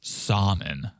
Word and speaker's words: salmon: loves seafood she loves salmon well he was making sure that he doesn't pronounce the l salmon yeah i used to